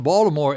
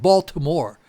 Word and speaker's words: Baltimore: Yeah, you got to say it like that. It's Baltimore. No, it's not Baltimore. That's the way people not from there say it. The people who are from there say Baltimore.